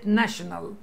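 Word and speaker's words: national: عندي هنا الفيكس ال ما تقوليش ففي لا بتنطق حروف يعني عندي كلمه نيشن كلمه نيشن يعني ا اضفت السكس ال بقت كلمه ناشنال انت قولها لما تيجي تقرا كلمتها تقول ناشنال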